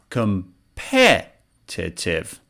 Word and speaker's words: competitive: as you can see the apostrophe is before pet which means this syllable the second syllable is stressed and you should say competitive competitive competitive competitive listen